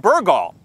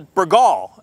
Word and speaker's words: Burgaw: church today we're in burgal um or bergal as my wife says and she's from this area so i'm sure she's pronouncing it right and i'm mispronouncing it we're at bannerman vineyards